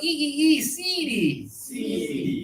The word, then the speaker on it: seedy: They are high tongue everybody. E seed. Very good. It's like cheap. It's seed. The double vowel indicates e high tongue.